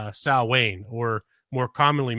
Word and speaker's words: Samhain: 2,000 years ago as a pagan holiday called Sal Wayne or more commonly mispronounced Samhain October 31st was the Celtic New Year and